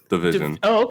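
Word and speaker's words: dvsn: I think you Division, pronounced Division. Division, Kid, Kyla, Future, Rihanna, Jay Z, and Kanye.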